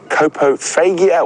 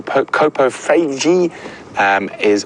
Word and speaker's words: coprophagia: Coprophagia or coprophagy or coprophagy, depending on your pronunciation, is the correct term for an animal that eats feces.